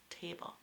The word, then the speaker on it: table: So it sounds almost like T-A-B-E-L, table.